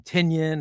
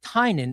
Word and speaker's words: Tynion: So when everybody else has trouble saying, they call him Tinian or Tynion or whatever, but his name is pronounced Tynion. It's an Irish pronunciation.